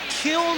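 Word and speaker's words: Kiln: there and gives it all he's got from Kill Mississippi he said there's an inn on the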